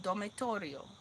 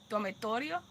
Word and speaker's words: dormitorio: El dormitorio. So I try to pronounce my T with the dormitorio.